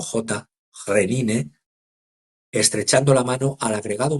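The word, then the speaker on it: Khrenin: Entiendo que se pronuncia como J. Renine estrechando la mano al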